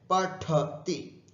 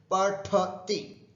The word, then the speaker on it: पठति: पठति, उच्चारण ध्यान रखें, पठति, ठ, ढ नहीं बोलना। हिंदी में पढ़ना होता है, यहां पर पठ, ठ होता है। पठति, पठति, लिखति, क्रीडति, ये